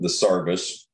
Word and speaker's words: sarvis: And of course, for people who are not familiar, the Sarvis is a it means service. It's an Elizabethan Ozarkian dialect pronunciation of service.